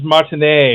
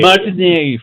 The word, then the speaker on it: Martinet: Yeah, I hate to be a geek here, but it is the French pronunciation is Martinet. Martinet. Charles Martinet.